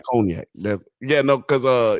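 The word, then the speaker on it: cognac: real and she's like it's it's conac and he's like Shannon's like yes it's conac you know it's conac yes the way you pronounce it it's conac I wasn't gonna say nothing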